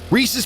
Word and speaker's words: Reese's: Why would they call it Reesei Pieces? That sounds weird. Reese's Pieces makes sense. It's not Reesei.